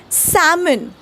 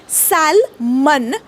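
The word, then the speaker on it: salmon: उच्चार सायलेंट आहे तसच सामन एक प्रकारचा मासा आहे हॉटेल मध्ये गेल्यावर याला साल मन नका म्हणू ओके इज्जत जाईल तो समन ओके सिम्पल आहे उच्चार सोपा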